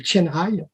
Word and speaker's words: Qianhai: Ils ont fait un quartier de Shenzhen qui s'appelle Qianhai. Qianhai, ça s'écrit Qianhai, dans le même mot.